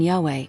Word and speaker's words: Yahweh: The pronunciation Yahweh is widely accepted among scholars as an academic reconstruction, but other forms have been used over time.